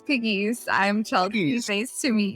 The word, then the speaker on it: Pegues: the name of your so my one for one it's piggies i'm chelsea nice to